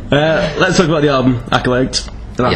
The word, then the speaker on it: Acolyte: Let's talk about the album, Acolyte. That's how you say it, isn't it? Acolyte, yes.